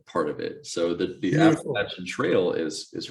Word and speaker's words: Appalachian: when i moved here i was instantly corrected by a co-worker at the time who told me i was saying it wrong he said you can call it appalachian you call it appalachian appalachia yep and then he sent